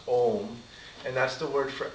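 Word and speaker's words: Ogham: have a word called Om. It's spelled O-G-H-A-M, and the G-H is, I guess, pronounced kind of like the G-H in dough. You know, it's a silent G-H, so it's pronounced Om, and that's the word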